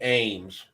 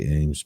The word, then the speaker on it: AEMS: The HoloSun Ames, or the AEMS, however you want to pronounce it. I say Ames, but yeah.